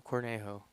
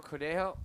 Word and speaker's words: Cornejo: My name's Cornejo. Cordejo. Really? Hell yeah, Cornejo.